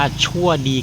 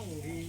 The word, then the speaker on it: ชั่งดี: อะไร เนี่ย อะไร จะ จะ บอก คำ ว่า ชั่ว ดี คาเฟ่ เหรอ เฮ้า เหรอ มี เปี๊ยะ อัน นี้ มัน อ่าน ว่า ชั่ว ดี เหรอ ครับ ชั่ว ดี ชั่ว ดี เหรอ ครับ ช่า ช่าง ดี ช่าง ดี อ๋อ ไม่ ใช่ วอ แหวน นะ